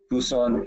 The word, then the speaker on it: Busan: Monday to go to it's pronounced Busan Busan and South Korea on